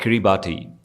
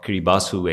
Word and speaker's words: Kiribati: Just to give you an idea, there is a small country in the Polynesian, it's called Kiribati, or Kiribati, actually you pronounce it as.